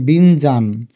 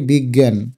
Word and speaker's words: বিজ্ঞান: এটার উচ্চারণ কি বলতো, বিজ্ঞান নাকি বিজ্ঞান নাকি বিনজান?